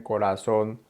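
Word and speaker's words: corazón: and it's relatively straightforward when the r Falls between two vowels as in Corazon or Pera that R is just a quick little tap it's not rolled not drilled when the r comes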